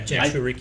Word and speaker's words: Jinchuriki: Yeah, Jinchuriki.